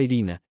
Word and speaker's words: Irene: Su nombre era Irene, se pronunciaba Irina, y parecía llevarse bien con todos en la oficina y con todos los que entraban a la oficina, excepto conmigo.